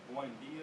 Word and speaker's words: Buendia: Like, And what they say, Buendia is how you say it.